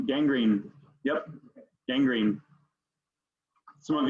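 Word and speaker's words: gangrene: six number six I can any of you pronounce this one William G green yep Gang Green yep Gang Green some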